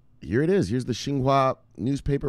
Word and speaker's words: Xinhua: okay you see an X right yeah it's pronounced Shh so the president of China is named with Xi Jinping right XI so this is Xinhua all right [ __